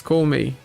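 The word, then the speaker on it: 孔明: The Japanese pronunciation for Kongming is Koumei.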